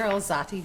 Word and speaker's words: Alzate: Today's guest is Alzati Jr. Did I pronounce the last name right?